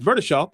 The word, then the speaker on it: Burdeshaw: I see it, but when you were looking at the spelling of it, I want to say Burdeshaw, but it's Burdeshaw, and the E is silent.